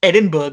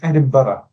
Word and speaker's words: Edinburgh: Well, first off, don't call it Edinburg. You will get stabbed. Uh, no, you won't get stabbed. Sorry, it's it's Edinburgh.